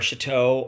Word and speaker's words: Shatto: They say they say Shatto or Shatto or those are the two other options. It is Shatto, as in big French house.